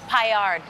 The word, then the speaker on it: paillard: By the way, Alex, is it do you pronounce the D in paillard or is it paillard? It's paillard. You say the D? Just a little Somewhere bit. in the middle.